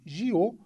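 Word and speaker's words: 九: A palavra para o número 9, que em mandarim pronuncia-se Jiu, soa exatamente como a palavra para longevidade em Taiwan, e por isso o horário e a data foram escolhidos para a cerimônia.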